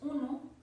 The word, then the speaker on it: um: que en español es uno, en portugués es un. En este caso, como la M está al final, se lee un. Y como que se aspire hacia la M.